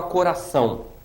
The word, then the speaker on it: coração: a prosódia eu tenho a palavra coração coração três sílabas co coração ó tô circundando ali você tá observando não é então ó coração a última sílaba é mais forte do que as outras eu digo que esta